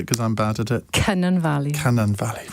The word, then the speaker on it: Cynon Valley: Beth Winter, Labour MP for, you pronounce it because I'm bad at it. Cynon Valley.